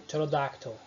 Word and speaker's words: pterodactyl: São exemplos das palavras pneumonia, psychology ou pterodactyl. Faltou um L ali, mas tudo bem, vamos sobreviver. Enfim, percebam, eu não pronunciei pneumonia, é pneumonia. Psychology, eu não pronunciei psychology. Também não pronunciei pterodactyl, é pterodactyl. Beleza?